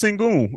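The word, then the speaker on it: Şengün: him I know who he is and it's pronounced single I know exactly help me out I can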